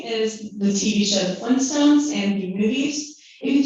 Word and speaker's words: Flintstones: look at the title whenever you think of how it's spelled you can spell f-l-i-n-s-t-o-n-e-s but actually if you look at the real title it's flintstones with an extra t but because people don't tend to emphasize the t whenever they're saying